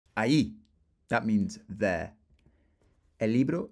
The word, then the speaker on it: allí: And if we were in Uruguay or Argentina, remember the double L sound is pronounced sh, so allí. But for the rest of the Spanish speakers, allí.